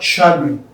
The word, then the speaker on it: chagrin: This is one of those words that have CH, but the CH is not pronounced as ch, but rather it is pronounced as sh. So we have chagrin, disappointment or annoyance.